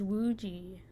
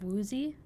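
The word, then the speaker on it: Woozi: Instead of Woozy? Woozy? Wooji? Or is that just like the... I don't know if that's how they say, like they pronounce the Z as like a J almost. Or if that's just like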